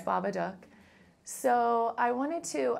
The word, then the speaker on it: Babadook: and Jennifer from Baba I know how to pronounce it now because of seeing it I know cuz at first you say baba duuk but then you quickly learn it's Baba duck so I wanted to how did how did